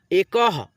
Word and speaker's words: एकः: की मात्रा है ना, तो हम लोग अह की मात्रा को आधा ह के रूप में उच्चारण करते हैं, वनः। ए क में अह की मात्रा जुड़ा, एकह।